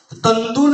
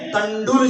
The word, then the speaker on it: तंडुल: तंदुल नहीं, तंदुल शब्द नहीं है, तंडुल शब्द है, ड का उच्चारण होना चाहिए।